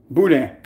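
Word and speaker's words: boudin: I'm saying boot and the right way to pronounce it will be B and you have D like it's basically boo like Bo o o and then you have Dan budang but it's spelled b o u d i n budang but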